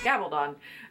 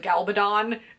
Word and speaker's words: Gabaldon: I've heard it pronounced so many different ways. When I was in Barnes & Noble for the Outlander event they announced it over the system and they said Galbadon, and this guy in the next aisle, like, he didn't even come to the event, but he's like, who would say it like that?